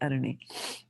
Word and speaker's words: Aruni: is her name is Aruni Mataji. Oh. I clarified with her. Yeah, the spelling is like a little esoteric, but it's pronounced as Aruni.